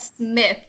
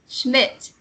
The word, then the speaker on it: Schmidt: For Satuith, I would say you had a bit of trouble with Schmidt. You read it like Smith. It sounds like Smith when you read it. I'm not sure if that's just how I heard it, but it's Schmidt.